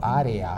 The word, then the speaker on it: área: La E se va a pronunciar de una manera parecida a la I, ¿no? El área, uh-huh, el coloreando, ¿verdad? No, área, ¿no? No, coloreando, área, sería una pronunciación muy tensa, muy artificial, ¿no? Que realmente no es una pronunciación natural, sería pronunciar así por influencia de la ortografía.